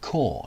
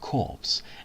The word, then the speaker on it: corps: the shores of tipoli it's pronounced core not corpse and is pronounced tripoli